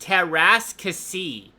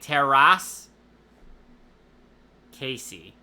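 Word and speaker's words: Teräs Käsi: of it as well it's pronounced teras Cy like tiar as in ripping a piece of paper and and roll the r then the second word is like Casey so like teras Casey Cassie is how you pronounce it according to Google speech no I must have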